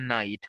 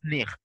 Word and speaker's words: night: Now it is, then we have the word night. So initially it was nicht.